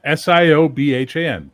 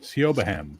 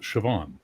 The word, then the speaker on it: Siobhan: they have a pronunciation for it, but yeah, Siobhan. S I O B H N. Yeah, it's like there's B's and H's and Yeah. S I O B Han. Siobahham, but it's Siobhan.